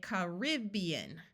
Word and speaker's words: Caribbean: this word there are two common ways that this is said in some places people say Caribbean where the rib is accented and the first a